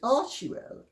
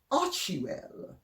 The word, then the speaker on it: Archewell: They pronounce it Archewell, except, I mean, I'm dumbfounded that when people have pretensions to being erudite, that they can cock things up quite so gloriously. I mean, you know, don't be pretentious, be down to earth. And if you're going to be pretentious, at least get the basic pronunciation right, for God's sake.